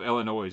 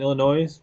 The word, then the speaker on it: Illinois: rick we all know the s is silent illinois but we know it